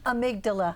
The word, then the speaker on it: amygdala: hub of the brain the how do you pronounce it again amygdala thank you very much thank you for me